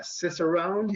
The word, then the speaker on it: Cicerone: He's certified Cicerone. Is that pronounced correctly?